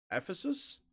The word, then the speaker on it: Ephesus: Olympia in Greece the Temple of Artemis at Ephesus I'm pretty sure that's how it's pronounced the mausoleum of Halicarnassus the the Colossus